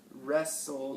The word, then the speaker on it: wrestle: we're we're less restful wrestle yep the W is silent let's write that one